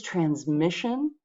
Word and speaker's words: transmission: The second word is transmission. And again B matches the stress in that word transmission. It's the middle syllable that gets the stress.